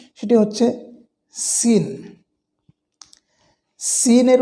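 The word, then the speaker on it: سين: আর ঝা, অর্থাৎ সদ, সিন, ঝা, ঝা, ঝা। এই 3টি হরফ একই জায়গা থেকে উচ্চারণ হয়, 3টি একই স্থান থেকে উচ্চারণ হয়। তবে সিন বলার সময় চিকন করে বাতাস বের হবে, আওয়াজ হবে চিকন।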